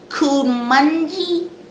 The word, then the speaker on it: Kuminga: two top picks with James Wiseman and Jonathan Kuminga. No, Kuminga, Kuminga. Kuminga, Oh yeah, Cal, with the Jonathan pronunciation.